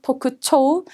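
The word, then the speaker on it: 特徴: 자, 그다음에 특징이라고 명사의 징자 발음 조심하시고 토쿠초우.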